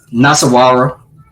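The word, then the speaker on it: Nasarawa: Pronounce that for me, B. Nasawara.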